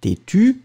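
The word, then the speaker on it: têtue: Têtu, and then feminine. Têtu with the E, but then you don't pronounce it.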